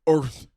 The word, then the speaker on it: Urth: Also, it's spelled URTH. Yeah, it's Earth.